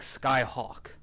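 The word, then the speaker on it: Scáthach: name's supposed to be pronounced like Skyhawk.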